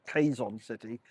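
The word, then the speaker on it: Quezon City: Heading out to a place called Lameza Eco Park in Quaison City, which just to clarify, I now pronounce Quaison City because if you don't, people look at you as if you've ordered a double espresso after dinner.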